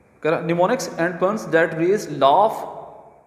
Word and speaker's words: mnemonics: हाँ जी, निमोनिक्स, इसको ना आपने एम को जो है वो साइलेंट कर देना है, इसको हम बिल्कुल नहीं पढ़ेंगे, इसको हमने छोड़ देना है। एन से हम जो है बेटे इसकी प्रोनाउंसिएशन लेंगे।